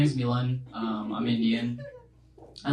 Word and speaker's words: Milan: the order and I was like yeah it's Milan um it's spelled m i l a n if that